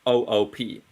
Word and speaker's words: Coop: But he pronounced it coop. He didn't pronounce it co-op. Yeah, I pronounce it like we do in Norway.